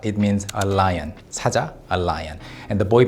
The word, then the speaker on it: 사자: Saja, a lion. And the boy band uses lion logos everywhere. But when you pronounce it like Saja with a long vowel, it actually means an envoy or emissary.